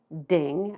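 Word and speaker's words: 丁: And these are pronounced jia, yi, bing, ding, and I'll try to be very careful with those two because they're very close together in pronunciation. Wu, ji, geng, xin, ren, and kui.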